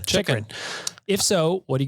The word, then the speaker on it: Chychrun: Chychrun.